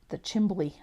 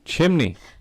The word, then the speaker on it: chimney: red to do the chimbley. I figure if I could mispronounce edumacation, then I can mispronounce chimbley. Chimbley. Oh, chimney.